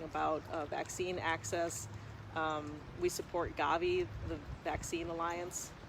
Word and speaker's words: Gavi: We support Gavi, the Vaccine Alliance. Actually, it said Gavi. I keep saying it wrong.